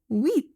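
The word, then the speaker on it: huit: Notice that H is silent and you say it as with.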